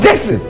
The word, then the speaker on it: 잭스: 빨리 발음해보세요. 직스. 직스. 직스. 잭스. 잭스. 잭스죠. 잭스.